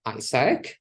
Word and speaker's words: AIESEC: brand name so we we pronounce our organization ISAC and it's written AI SEC the acronym of full